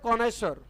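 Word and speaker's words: connoisseur: है बाबू बहुत ही कॉमन सा वर्ड है कोनेश्वर कोनेश्वर कोनेश्वर का अर्थ होता है पारखी स्पेलिंग का ध्यान रखोगे सी ओ डबल एन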